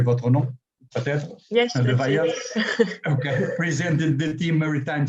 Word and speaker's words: Levaillant: First of all, Madame le Docteur Levaillant, je pense que c'est comment doit prononcer votre nom, peut-être? Yes, Levaillant.